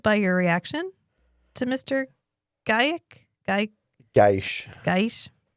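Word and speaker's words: Gajic: Gaish. That's how she pronounces it. Aldous. Do you? And since it's Mira Furlan's husband's last name, I'm gonna go with Delen's pronunciation. Yeah, which is like Gaish. Gaish.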